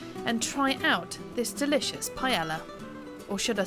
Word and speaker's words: paella: With the dish itself, I've always known it to be pronounced as paella, but that isn't correct, is it? No, the double L in Spanish is pronounced like the English Y.